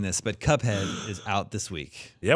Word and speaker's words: Cuphead: Pronounced Cuffed? No, Fed. Yeah, PH. Fed. Cuphead. It's actually a PH.